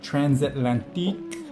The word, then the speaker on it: Transatlantique: This is the Transatlantic, or Transatlantique, if you say it like you're a French, Transatlantique, and it is just incredible.